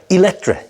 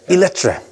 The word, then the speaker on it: Eletre: How do you pronounce it? Eletre. Eletre.